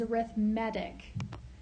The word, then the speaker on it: arithmetic: And arithmetic, now we spell it like arithmetic, but the way we say it in this context is arithmetic sequence.